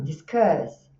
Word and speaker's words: discuss: Então aqui, olha, o stress tá na segunda, então é discuss, tá?